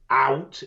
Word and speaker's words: owt: So, out is anything, and it's spelled O-W-T.